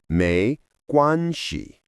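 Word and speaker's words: 没事: The fourth phrase is meshi, pronounced meshi.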